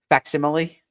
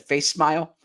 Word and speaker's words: facsimile: Facsimile. Okay. Nice. For a long time, Birds with Friends viewers, you know that I once said face smile, and I got face laughed at for that.